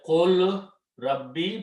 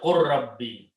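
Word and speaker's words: قُلْ رَبِّ: And when we say with the ra and the lam, we say qul Rabbi, but with tajweed say qur Rabbi.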